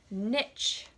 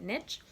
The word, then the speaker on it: niche: got several words today the first is niche or anisha's pronounced both ways but I'm gonna say it niche so a niche is